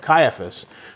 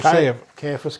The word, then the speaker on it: Caiaphas: And they led him away to Annas first, for he was the father-in-law of Caiaphas, who was high priest that year.